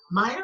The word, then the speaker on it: Maier: And when I was looking at a number of the photographs of Vivian Meyer or Mayer, I know I'm saying it wrong, Meyer, Meyer, and it's spelled so many Maier.